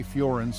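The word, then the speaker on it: Firenze: Breaking into the top 4 is the city of Florence, or as the locals say, Florence in Italy.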